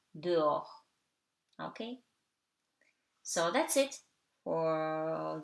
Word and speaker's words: dehors: Okay, and something very easy, H is always silent. Au, haricot, heure, dehors.